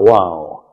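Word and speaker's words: Vau: Sometimes pronounced wow.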